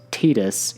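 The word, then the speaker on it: Tidus: from Final Fantasy X has only been officially pronounced as Titus in any game that I'm aware of, this doesn't seem so bad.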